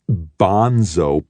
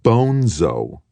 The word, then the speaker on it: Bonzo: to give it to Bonzo Madrid now another boy joined the conversation smaller boy but still larger than Ender not bonso piss head Bonzo the name's Spanish Bono Madrid a Senor Grand Fedor you